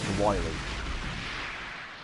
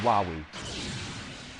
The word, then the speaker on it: Wily: light in this can't pronounce dr. wily you pronounce it dr wahwee that means a mr.